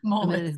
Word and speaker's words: Moelis: Moelis. Yeah. Moelis. It's hard to work. I was pronouncing incorrectly.